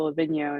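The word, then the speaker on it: Livigno: italy which is a town really close to la vigno and this has been a new location for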